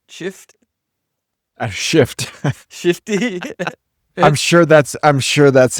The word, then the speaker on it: Schiff: Is it Adam Schiff? Shift. Shifty? I'm sure that's how Trump pronounces it too.